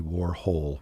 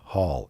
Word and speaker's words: Warhol: how to pronounce andy warhol but she says it's warhol not hull it's whole as in warhol he goes to this whole life it's warhol as in ho ho and so he goes